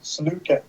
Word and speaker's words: Sliwka: SLIWKA, Sluka.